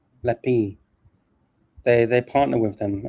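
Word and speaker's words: L'Epée: conjunction with uh lapel Le P sorry lepi is I think is how you pronounce it lepi they they partner with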